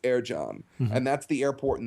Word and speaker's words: Ercan: So in Turkish, if it's a C, that's pronounced with a J. So it's Ercan, and that's pronounced Ercan.